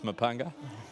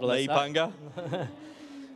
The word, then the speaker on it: Mepunga: Do you reckon they'll get the message over in NZ and other parts of Australia that it's Mepunga, not Mepunga? Is that how they pronounce it? Yeah. Mepunga.